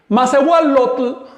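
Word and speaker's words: macehualotl: Cuando un radical termina en L y yo le sumo el sufijo yotl, esta Y se contamina con la L. Así que eso se pronuncia lotl.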